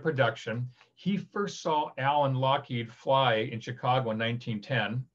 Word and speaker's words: Loughead: spelled l-o-u-g-h-e-a-d which is log head as people pronounce it but it's scottish so it's lockheed and they eventually changed